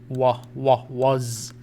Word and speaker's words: was: قلنا هذه من الكلمات التي يجب أن تحفظ وتقرأ هكذا كأنها W-U-Z was.